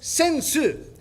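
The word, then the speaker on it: 扇子: In Japanese, we call this sensu.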